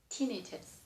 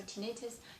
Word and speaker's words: tinnitus: English pronunciation, if regular common word, probably the accent on the third one, so tinnitus. But a lot of medical words, the accent changed, so this is in medical field probably called tinnitus.